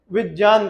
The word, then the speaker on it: विज्ञान: का उच्चारण क्या बनेगा जब गया का उच्चारण जाके जैसा होगा तो विज्ञान ना का के हम क्या कहेंगे विज्ञान कहेंगे विज्ञान ठीक है तो ऐसे